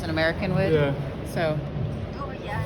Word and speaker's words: Dorian: Dorian Your whole name.